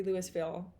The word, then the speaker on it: Louisville: raised me well and i'm pronouncing that specifically louisville not louisville which i had thought it might have been pronounced but on the previous